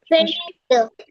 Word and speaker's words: finished: Finished.